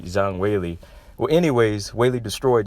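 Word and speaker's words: Zhang Weili: Zhang white Zhang Wei Lee that's how you pronounce it I think I want to make sure I got it right Zhang Wei Lee well anyways Wei Lee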